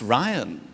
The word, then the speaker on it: Ryan: It's pronounced Ryan. And he said, it's spelt rhubarb. And I said, yes, it's Irish.